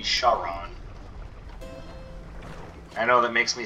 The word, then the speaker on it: Charon: we go to hermia i know i pronounce it kharan in this game but it is supposed to be charon i know that makes